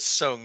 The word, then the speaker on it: Soong: Oh, Donnie came in with Soong, not Sing too.